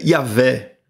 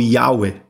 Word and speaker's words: Yahweh: palavra que por vezes a gente pronuncia Yahvé, né? Ou Yahweh.